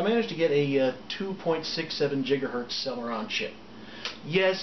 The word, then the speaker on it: gigahertz: it like i managed to get a 2.67 gigahertz seller on chip yes it's pronounced gigahertz look it up and i also